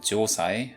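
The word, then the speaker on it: 城塞: Meanwhile, Korean uses a Chinese borrowing in the form of Japanese also has this word pronouncing it joai, although it's usually spelled a little differently.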